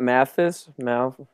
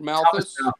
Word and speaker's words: Malthus: Mathis? How do you say it? Malthus.